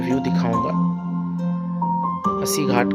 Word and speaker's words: अस्सी: ये अस्सी घाट है। अस्सी इसका जो शुद्ध उच्चारण अस्सी है, लेकिन लोग इसको 80 बोलते हैं।